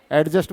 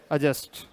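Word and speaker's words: adjust: ए और जे आए ए और जे के अंदर बीच में अगर क्या चीज आ जाती है डी तो वो डी हमेशा क्या रहता है साइलेंट क्या रहता है साइलेंट अच्छा एक स्पेलिंग लिख के बताता हूं क्या चीज आज त क्या बोलते थे एडजस्ट बोलते थे क्या बोलते हैं इसको अजस्ट क्या बोलते हैं अजस्ट गाड़ी वाड़ी में जाते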